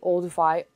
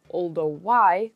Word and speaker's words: Olduvai: These stone tools were first discovered in the Olduvai, or Olduvai, Gorge in Tanzania. Depends on who you ask how to pronounce and write it.